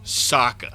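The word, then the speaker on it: Sokka: love it's your boy Saka it rhymes with an akka young ladies I rock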